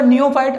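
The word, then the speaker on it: neophyte: नियो आपका नए से होता है, और यहाँ पर देखिए फाइट की स्पेलिंग नहीं है, लेकिन फाइट का साउंड है, नियो फाइट।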